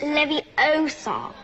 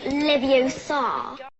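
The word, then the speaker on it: Leviosa: you saying it wrong it's Levi Oar not Lev Oar Le H I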